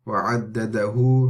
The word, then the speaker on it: وعدده: And then وعدده, وعدده. Remember, this is the diminutive med of the dhamma. So it's like a waw at the end.